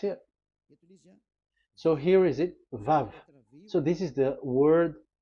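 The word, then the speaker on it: וו: So it's V as in Vogue. So it's really V. How to read Vogue? So the word, the shape Vav is really pronounced V, like Vogue. That is it, pronunciation. So here in this side, it's pronunciation. This is pronunciation. So according to the old Hebrew word today, those who the owner of the words, I mean, so it's a V. So don't change it into W, and you will say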